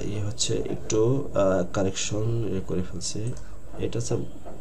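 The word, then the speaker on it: ふ: হা হি হু, ফু, হ্যাঁ হু হবে না, এটা ফু হবে, ফারুসুকারে ফু।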